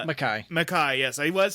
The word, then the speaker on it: Makai: Makai, yes, I was saying it right.